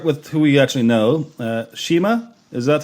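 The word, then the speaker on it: Shmi: Shima, is that how you pronounce it? Shmeen. Oh my God. I need another pint of Guinness in me. Yeah. Sheem.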